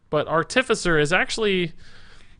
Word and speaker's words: Artificer: up on that because artificer deals with artifacts so it's a different emphasis but I don't know